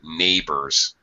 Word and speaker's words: neighbor: of lead oh sorry neighbors the oh you are s ending is just a it's like an ER ending it's no different than an ER bigger or smaller neighbor ok pokel infamous ah